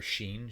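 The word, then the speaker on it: שִׁין: Or sheen, shin, sheen. Some people sin, seen, whatever.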